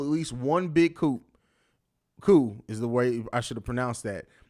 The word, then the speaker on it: coup: Coup is the way I should have pronounced that.